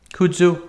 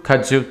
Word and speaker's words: kudzu: molasses and kudzu root kudzu kadzu depends how you like to pronounce it and that is the